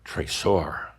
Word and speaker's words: trésor: We've talked about a similar term in Kihak, trésor, without the T.